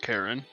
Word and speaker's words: Chiron: No, no, Chiron, the boatman. Pronounced Karen, like the other bad things, but we'll continue.